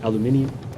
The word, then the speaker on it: aluminium: Alum aluminum Ingot and for our one UK viewer that's aluminium because uh you can't be British without adding just random sounds um Americans have stuff to do don't have time for syllables or even in an